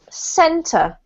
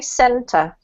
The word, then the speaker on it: center: This is center. 2 syllables, okay? Center.